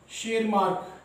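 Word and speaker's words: Tschermak: नाम क्या था, mister Correns Hugo de Vries शेरमार्क, T silent है बेटा इसमें.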